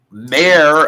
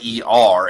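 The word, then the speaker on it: Mare: Mayor of Easttown, but it's not mayor. It's Mayer, as in character.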